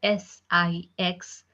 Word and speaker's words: six: 6 in French, it's being pronounced as Six. Six. Six. Okay. Not 6. Okay. That's wrong. Six.